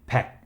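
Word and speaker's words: 백: thousand as we saw we say pac instead of ill-back normally two is e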